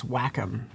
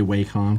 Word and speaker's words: Wacom: to say it yes I say Wacom because I'm an idiot but it's Wacom it yeah that's fine if I if I'm an idiot guys I get to say it yeah I would probably pronounce it differently just to annoy people who would feel the need to correct you my god it's actually Wacom I'd say it well